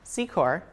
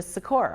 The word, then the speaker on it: Secor: name is originally pronounced Secor but I took creative Liberty with my last name when I got the nickname and changed it to Sor on my own which to my parents